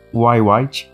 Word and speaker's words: Wyatt: Derek James Y. White, essa é a pronúncia certa do sobrenome dele, mas eu prefiro falar Derek White só por costume mesmo, né?